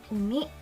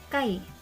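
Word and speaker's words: 海: Nah, pada kanji umi ini memiliki dua cara baca, kung maupun ong. Kungnya adalah umi, ongnya itu kai.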